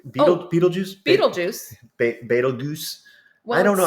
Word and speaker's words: Betelgeuse: Betelgeuse. Well, I don't know how to pronounce it. It's spelled weirdly, but it's pronounced the same. Beetlejuice?